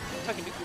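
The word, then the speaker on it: Tanooki: I believe that's Mario in a Takenouki suit, if I remember correctly. Is that pronounced correctly? Yeah, it's like a Tanuki.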